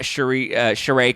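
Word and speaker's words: Sheree: you know I thought charay coming back I keep confusing her with Cherise Zampino because they're both spelled the exact same way but one's pronounced cherry and one's pronounced charay um but I thought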